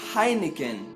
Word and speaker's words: Heineken: mas mesmo assim em nomes de algumas marcas estrangeiras nós pronunciamos a letra h mais ou menos da mesma forma que ele é pronunciado no idioma original daquela marca por exemplo nós temos